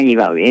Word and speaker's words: Ghibaudi: Yo soy la señora y está con nosotros Liliana Gibauli. ¿Así se pronuncia, Liliana? Sí, así se pronuncia, Liliana Gibauli. Es de ascendencia italiana. Y Liliana Gibauli.